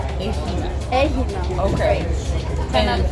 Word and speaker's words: Aegina: So is this pronounced the Asian? Aegina. Aegina.